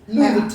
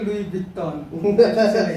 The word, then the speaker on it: Louis Vuitton: It's Louis Vuitton. I used to say Louis Vuitton. Kind of Italian.